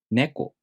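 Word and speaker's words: ねこ: For example, neko. This shows the accent is on the first syllable, and then the pitch drops after the first syllable.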